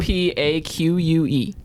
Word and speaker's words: opaque: That's a- OPAQUE. Hit the like. Hit That's the nuts.